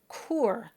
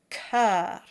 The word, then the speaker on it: cœur: And this word is often mispronounced as cour. This word is probably best memorized, but until then, just spell it out in your score as K-E-U-R, cœur.